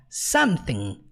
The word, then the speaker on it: something: para ressaltar é que toda e qualquer palavra no inglês que termina com i n g você nunca pronuncia a letra g então você não fala Samsung não você fala como something ressaltando também que nós